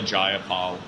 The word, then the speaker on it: Jayapal: Well, first of all, if you heard the opening statements of Pramila Jayapal and Jamie Raskin, it was absolutely outrageous. That's how you pronounce it.